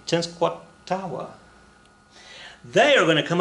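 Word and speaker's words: Tenskwatawa: right now you're like that's so easy it's ten squat tawa they are going to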